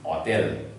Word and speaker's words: hôtel: So without this accent, it is hotel, but with this accent, it is hotel. Oh, hotel is a bit wrong.